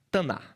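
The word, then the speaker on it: תנ״ך: Mas eles não pronunciam esse K no final. E como você tá aprendendo muito hebraico aqui nessa aula, você também não vai pronunciar, né? Taná.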